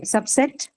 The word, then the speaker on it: subset: more important right okay subset subset subset is what it is a noun right first first syllable okay so because it is now the first syllable all right okay then